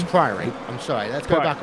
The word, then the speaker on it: Priory: Are we still having our pronunciation battles on that? Priory? Yeah, it's Priory.